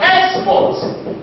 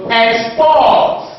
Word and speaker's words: export: I will call it export export the stretch on the second syllable so it is a